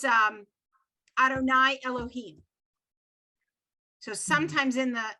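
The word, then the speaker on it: יהוה: jude hey bob hey that word you'd hey bob we never ever pronounce we never try to sound that out it's arunai okay and in the torah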